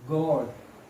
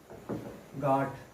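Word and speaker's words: God: तो गॉड, गॉड, गॉड, गाट. Mostly student pronounce is गाट.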